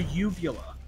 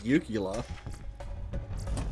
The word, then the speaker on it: uvula: It's a uvula. Oh. I heard people pronounce this yugula. Oh, those people are wrong! There's no G in that word.